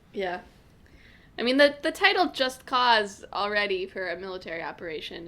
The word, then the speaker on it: Just Cause: So the reason we know it's pronounced Just Cause as opposed to Just Cuz is because it's named after the U.S. invasion of Panama mission, which was called Operation Just Cause.